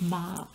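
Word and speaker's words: 妈: you've got here is the character for mother pronounced ma and this character is broken up can be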